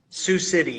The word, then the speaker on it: Sioux City: Sioux City.